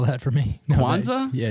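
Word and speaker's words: Kwanzaa: spell that for me Quanza yeah is that like the holiday yeah like the holiday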